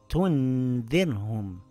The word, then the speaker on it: تُنذِرْهُمْ: It reads tunzirhum. This time it made a light nasal sound.